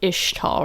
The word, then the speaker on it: Ixtal: a normal boy in ishtal it's pronounced ishtal right like ish yeah it's tall but we don't say the X right yeah I think